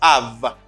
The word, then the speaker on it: of: You see the F here, but you pronounce a V sound, like a V sound.